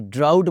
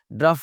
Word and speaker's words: drought: ड्राउट बोलना है इसको जनाब, ड्राउट इज़ ड्रफ नहीं, कैसे वाला ड्राउट बोलना है? जैसे OU की आवाज़ निकलती है आउट में, ड्राउट, आउट बोलें, ड्राउट।